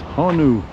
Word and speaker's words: honu: And it's honu.